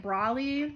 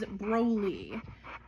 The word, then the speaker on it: Broly: is all Broly um a lot of people might pronounce it Brawley you know from um anime but when I was introduced to him I was told his name is Broly um so that's what I call them that's what he responds to